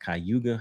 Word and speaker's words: Cayuga: it says on Wednesday, I believe it's pronounced Cayuga. I may be pronouncing that wrong, guys.